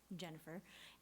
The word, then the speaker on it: Jynafer: My name is Jynafer, as he said, just pronounced Jennifer, despite the many interesting letters in it.